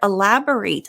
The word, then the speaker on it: elaborate: Now here, elaborate, the verb is ate at the end, like the past tense of eating.